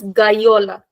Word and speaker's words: gola: That is Gola. Guyola. Ga. No way that we can make it sound like J. It will always be G. No exceptions.